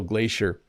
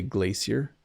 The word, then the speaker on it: glacier: ah I see so it's because I'm using the North American pronunciation so glacier basically a large river